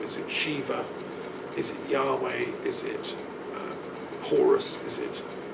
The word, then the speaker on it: Yahweh: Yahweh is the proper pronunciation.